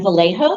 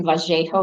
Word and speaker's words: Vallejo: I'm Vallejo, that's the California pronunciation. I do answer to Vallejo or Vallejo, either one.